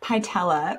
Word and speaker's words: Pytela: Martin Pytela, rhymes with patella, became a health coach after overcoming serious health challenges.